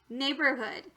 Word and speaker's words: neighborhood: Try for the real word, neighborhood. Now you'll notice that the OR sounds a lot different. It actually sounds like instead of or. And sometimes that's just irregular in some words.